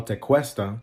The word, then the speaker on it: Tequesta: schools which we call Tequesta but that's only because it's spelled in Spanish teesta is spelled in Spanish with the QE Q spells k k they were a